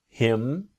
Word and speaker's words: him: The idea again about her to is native speakers don't always pronounce the letter H when we speak quickly. Here for example, I can ask him.